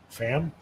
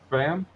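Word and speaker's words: Pham: and thor was coy how do you say a p-h-a-m fam fam and i i don't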